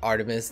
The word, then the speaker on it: ARTMS: Today we're checking out Artms the Carol 3.0.